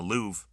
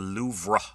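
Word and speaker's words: Louvre: Everyone everyone calls it the louv. Um it's actually that's not true. It's the louvra. There's a little r at the end.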